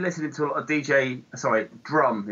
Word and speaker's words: DJ Rum: And then we, I think I've been listening to a lot of Drum is how you're supposed to pronounce it, but it's spelled DJ Rum.